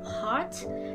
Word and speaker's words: heart: In this video, I'm going to talk about the difference in pronunciation between the words heart and hurt.